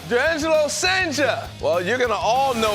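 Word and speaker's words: Jurrangelo Cijntje: Durangelo Sanger. Durangelo Sanger.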